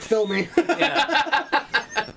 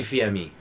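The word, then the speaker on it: Fils-Aimé: don't know how yes it's spelt like fill me it's Reggie fear me I love Reggie I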